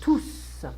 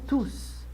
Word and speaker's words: tous: You know, the ending can be pronounced in French. It depends the words, it depends the context. So, like for instance, tous, pour tous, for everyone, pour tous, for everyone. Et tous les jours, I don't pronounce the S here.